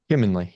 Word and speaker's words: Humanley: Do you pronounce it as Humanley? Humanly, yeah, Humanly. humanly. Okay, it's Humanley.